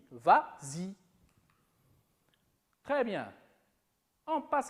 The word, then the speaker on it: vas-y: Mais comme il est suivi d'un pronom, on ajoute le S pour faciliter la prononciation. Et on dit vas-y.